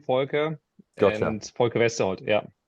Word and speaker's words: Volker: Okay, so it's Volker. So it's a German name, Volker.